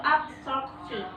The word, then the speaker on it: absorpsi: Kemudian ada absorpsi. Oke, absorpsi. Kemudian ada digesti. Cara membacanya itu absorpsi. Jadi dia penekanannya itu dipertipis lagi.